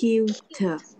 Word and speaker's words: cute: Không có đọc cu in te. Cái từ dễ thương đọc sao? my Cute. Đúng không? Cute. Cái từ dễ thương mình đọc là cute.